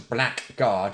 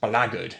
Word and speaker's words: blackguard: games and so but it's not actually pronounced a blackguard it's pronounced blaggard it's a sort of